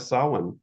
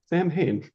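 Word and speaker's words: Samhain: on that intuition um there's a couple of questions too about SA or for those who like to mispronounce it Sam ha um do you have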